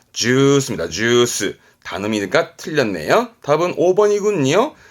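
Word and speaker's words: ジュース: 주스는 장음이 들어갑니다. 주스입니다.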